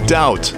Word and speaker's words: doubt: Silent letters. Why is there a B in doubt?